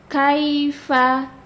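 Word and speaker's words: كيف: dia harokatnya fathah, dibuka kaifa, kaifa, kaifa, tidak kaifa, tidak, jangan berlebihan hamesnya. Kaifa, ya, huruf kaf tipis, ya, ini semuanya hurufnya tipis, ya, dibacanya rileks saja lidahnya.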